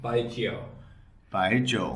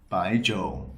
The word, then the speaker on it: Baijiu: So, it's two syllables. First one is by, second one is by Joe. Yeah, there you go. And what about the the terms of um how do you have to raise or lower the tone of the voice because that's also I think it's so the tones in by Joe are two and three. So the second one is a rising tone.